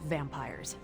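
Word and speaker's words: vampyres: vampires with a Y pronounced exactly the same as vampires I suppose that was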